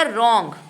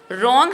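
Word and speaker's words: wrong: इसके बाद शब्द बनेगा रॉन्ग। ठीक है? रॉन्ग हमने बोला आर से बोल रहे हैं। डब्ल्यू साइलेंट है।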